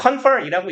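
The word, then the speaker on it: cf.: 이건 뭐 confer이라고 읽고 라틴어인데요.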